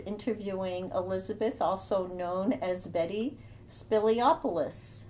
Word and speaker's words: Mantis Spiliopoulos: My name is Nicole Morin Scribner, and today I have the honor of interviewing Elizabeth, also known as Mantis Spiliopoulos. How did I do? Did I pronounce that okay?